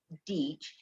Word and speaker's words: Deach: And the fun person you see in front of you is Jen Deach, that rhymes with beach.